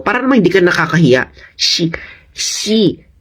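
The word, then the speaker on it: Xi: naman hindi ka Nakakahiya she ang yung x ay pronounce as she she Okay shein pingin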